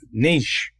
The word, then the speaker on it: niche: does yeah smaller the niche the bigger the market yeah and for my American friends that niche in Canada is pronounced niche in the United States just like foyer foyer so this popped into my